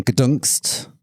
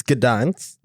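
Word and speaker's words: Gdańsk: How are you actually supposed to pronounce that? It's Gdansk. Gdansk. Gdansk. Gdansk, I think. Oh, you got to help us out. I think it's I think it's pronounced like the Netflix noise when the Netflix turns on.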